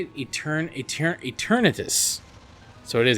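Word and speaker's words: Eternatus: Eternitus. So it is Eternitus. See, I'm the worst at reading things, and I always get names and places and names of places wrong, so I do apologize. But Eternitus is going down.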